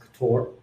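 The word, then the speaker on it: Ktor: to this talk on kator uh otherwise pronounced couture in fact if you're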